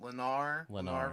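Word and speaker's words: Lennar: Leonard Stadium, right? You said Leonard is how you pronounce it. Yeah, what is it? Lenar race stadium.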